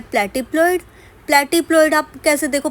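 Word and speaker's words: platypelloid: Fourth type of pelvis क्या है, प्लेटिप्लॉइड। प्लेटिप्लॉइड आप कैसे देखो प्रोनाउंस कर रहे हो तो प्लेटिप्लॉइड, ठीक है, प्लेटी, और फ्लैट बोलने में प्लैट, फ्लैट, सेम तरीके से प्रोनाउंस होता है।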